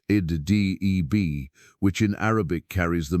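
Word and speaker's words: edh-Dhib: His name has come down to us as Muhammad Adib, pronounced Id-Deb, which in Arabic carries the meaning the wolf.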